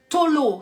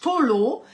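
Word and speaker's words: תלה: la racine en hébreu Tolo ça s'écrit t a l a h Tolo ça veut dire vraiment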